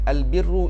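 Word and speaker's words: البر: kitab Al Wafi mengatakan Al birru ini ada dua maksud yang pertama Muamalat yang baik sesama makhluk itu disebut sebagai Al birru ejaandi Alif Lam Baro Al biru baris depan Al biru maknanya ialah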